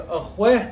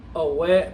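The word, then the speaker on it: ahwééh: Ahwe means coffee. Ahwe. Alright? Not away, but ahwe. You gotta say it just like that. Because if you say it like away, that you're talking about a baby.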